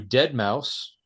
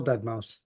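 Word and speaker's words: deadmau5: then we go to dead mouse that is how you pronounce his name right I mean I know the S is sometimes a five yes still dead mouse okay dead mouse uh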